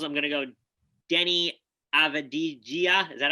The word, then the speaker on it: Avdija: The Bulls, I'm going to go Denny Avdija. Is that how to say it? I think it's Avdija. Avdija. Yeah, Avdija. Yeah, I think it's a soft J.